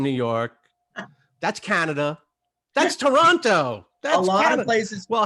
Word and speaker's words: Toronto: i just tell you it's toronto with no second t toronto that's it if you you're you're you're part of the team when you say it like that yeah yeah it's like